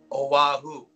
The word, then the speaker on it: Oahu: Oahu, right?